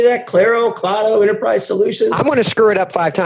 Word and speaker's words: Claro: water price solutions how do you say that Claro Claro Enterprise Solutions I want to screw it